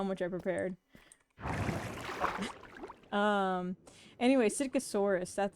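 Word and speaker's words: Psittacosaurus: Um, anyway, Sitkosaurus, that's its name. It starts with a PS. The P is silent.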